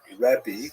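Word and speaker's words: רבי: Um and uh in Israel the the term used in late antiquity was rebi that's the actual pronunciation which means my greatness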